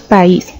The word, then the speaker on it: país: Tenemos la palabra país. Como podemos notar, la pronunciamos en dos sonidos o golpes de voz por separado. Nosotros decimos país.